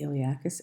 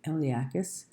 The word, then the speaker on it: iliacus: The P is silent. It's made of 2 muscles, the iliacus and the psoas major.